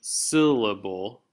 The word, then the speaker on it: syllable: So if you look at the word syllable, you hear me, I'm emphasizing syll quite a bit, much more than lable.